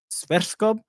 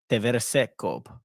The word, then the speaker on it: Sverskov: the players' names, because it's Jeppe Sverskov, not Teversekov. That was Teversekov. That was rough.